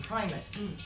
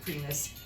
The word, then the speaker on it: Primus: And at that time, we started using the name Veron Primus. Initially, I was pronouncing it the American way, Primus, but it's Right, Primus. Primus. I know that's the way it's pronounced here.